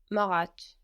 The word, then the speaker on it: mariage: The marriage. This has one R in French. The marriage. Le mariage.